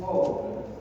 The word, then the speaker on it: of: not of, it is of. Of is this. This is of, and this is of. So, V sound. F is not there. So F will be pronounced when there is double F.